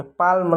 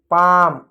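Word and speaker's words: palm: इसको पाम पढ़ेंगे, पाल्म नहीं पाम, एल साइलेंट होता है।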